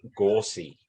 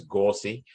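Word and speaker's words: Gauci: name is actually pronounced gorsey uh so there you go folks no one has come out with that one yet but uh his name is not actually pronounced gauche it's gorsey so we'll see how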